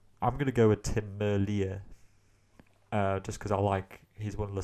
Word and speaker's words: Merlier: be on Kuurne-Brussels-Kuurne, then I certainly think that Merlier could take it.